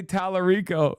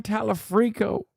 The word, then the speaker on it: Talarico: He said El Sayed and AOC correctly, but he couldn't say Talarico. The only white guy, his name he couldn't pronounce.